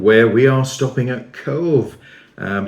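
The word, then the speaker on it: Cobh: Emerald Isle Island where we are stopping at Cove um it's actually spelled c b h but it's pronounced uh cve by the locals and this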